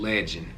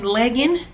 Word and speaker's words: Legend: figure out the pronunci the pronunciation of his name is legend with no d so you would say legend with a d we drop the d and just name them legend so we've already been